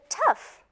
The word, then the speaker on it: tough: hold on a second the word tough that's not good that's not even zero it's f where did that come from